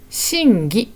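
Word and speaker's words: 審議: ですねでも読み方はそんなに難しくない真義と読みます真義始まる意味は難しい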